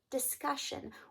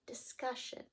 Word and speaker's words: discussion: Which syllable has stress in this word? Discussion, discussion. Okay, hopefully you thought "cuss" should have that syllable stress. Yes, so, now that is not the ending that has the syllable stress, it's this syllable here, discussion.